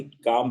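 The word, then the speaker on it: calm: इस तरीके से होता कलम लेकिन कलम नहीं पढ़ा जाएगा बल्कि काम पढ़ा जाएगा इसी तरह हल्फ हल्फ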